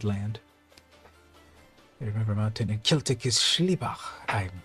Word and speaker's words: Celtic: know if you know this so obviously it's celtic right that's the correct pronunciation in the us we have a basketball